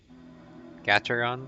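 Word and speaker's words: Gateron: but I believe I don't know how to pronounce it it's a g a t e r o n Gaton or something and I believe these are the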